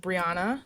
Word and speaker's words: Brianna: I am joined today with my friend and colleague, Brianna. Hopefully, I pronounced your first name correctly.